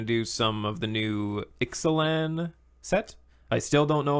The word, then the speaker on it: Ixalan: Yeah, we're gonna do some of the new Ixalan set. I still don't know if I'm pronouncing it right. Ixalan. Ixalan? Yeah, I remember LAWN. Lawn. No, it's IXA.